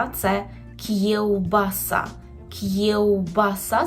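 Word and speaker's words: kiełbasa: - це кі вбаса кевбаса Зверніть увагу на вимову губного звука в кевбаса шинка так і буде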